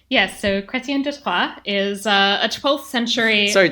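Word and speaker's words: Chrétien de Troyes: simultaneously like do the you've got to like roll the r a little bit okay yeah there you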